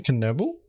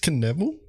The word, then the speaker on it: Knievel: my gears is that how you pronounce his name can Noble is that really how you pronounce this time it's knevel Vincent Knievel no not in German okay taking the pistol